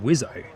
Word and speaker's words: WSO: Front of course is the pilot, and the back is the WSO, which stands for weapons systems officer, pronounced Wizo.